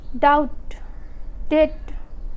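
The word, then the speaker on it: doubt: B silent होता है, या बी के बाद टी आता है तो बी साइलेंट होता है।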